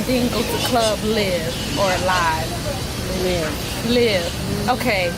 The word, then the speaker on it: LIV: go to the club live or live live live okay cuz it's spelled l IV and I always forget it but it's live though it's called live okay so it's called